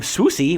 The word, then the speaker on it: Swoosie: Uh, Curts got her first name Swooie, which rhymes with Lucy rather than Woozy.